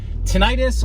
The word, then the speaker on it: tinnitus: And that's, today's topic is tinnitus, or what is how it's sometimes pronounced is tinnitus.